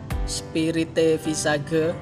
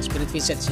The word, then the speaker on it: Spirit Visage: Spirite Visage, bacanya gimana? Spirit Visage ya.